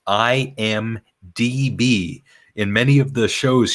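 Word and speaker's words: IMDb: database and and please tell Cora it is pronounced I am DB in many of the shows she says I am BD it's it's a simple mistake but she still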